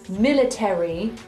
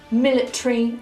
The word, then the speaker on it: military: In RP, we do not say ordinary, military, and momentary. We say ordinary, military, and momentary. The ARY becomes a simple RE.